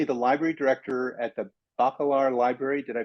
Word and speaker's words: Bacalar: Jay is currently the library director at the Bacalar Library. Did I pronounce that correctly?